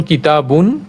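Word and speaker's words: كِتَابٌ: উদাহরণস্বরূপ এখানে আমরা অনেকগুলো উদাহরণ এনেছি, যেমন কিতাবুন, সেটা লেখার জন্য অবশ্যই এরকম, কিন্তু উচ্চারণের সময় কিতাব কিতাব হিসেবে উচ্চারণ করা হবে।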